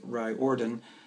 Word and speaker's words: Riordan: uh speaking of series rick riordan which is spelled reardon but the he pronounced it right ordon has um a non-serious